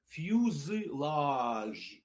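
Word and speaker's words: fuselage: Читается «фюсилаж», «фюсилаж». Покажу крупным планом. «Фюсилаж», «фюсилаж». Можно с «зэшкой» произнести «фюзилаж».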